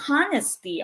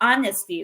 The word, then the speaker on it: honesty: the best policy okay it is silent h so we don't say honesty okay so we say honesty silent h pusha is